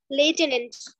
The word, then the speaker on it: lieutenant: Lieutenant. লেফটেন্যান্ট কেন বলতেছো তুমি? সে এখানে তো এফ নেই তার জন্য একবারে বলা মানে মুখস্থ করার জন্য বললাম।